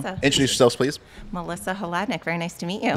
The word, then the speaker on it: Hladyniuk: So it's like you can spell it out phonetically. Breakdown. Yeah. Hladyniuk. Hladyniuk.